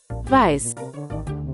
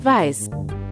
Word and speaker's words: Weiß: And now since it's German for white, is it supposed to be pronounced like this? Weiß. Weiß.